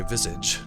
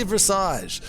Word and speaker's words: Visage: I think the British say Visage, but I say Visage.